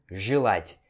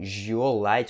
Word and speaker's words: желать: Mais uma vez, esse E é pronunciado com o som de I, então você pronuncia желать, e não желать, ou então желать, certo?